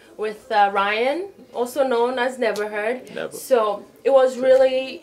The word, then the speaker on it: NevaHurd: So, you know, NevaHurd. It's spelled differently. It's N-E-V-A-H-U-R-D.